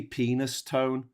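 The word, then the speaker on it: Penistone: I think it's pronounced peniston but it's basically penis tone and so I wrote haha penis capitals tone.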